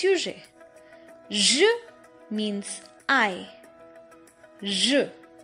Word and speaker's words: je: je su means i Xue Xue is pronounced as sure in measure measure sure okay the next promise